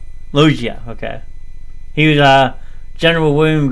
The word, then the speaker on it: Loggia: I never know how to pronounce his last name. Loggia.